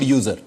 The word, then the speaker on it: usr: Such things typically go in a branch of this tree called user. Okay, so user is essentially another directory just under root. Okay, it is spelled USR.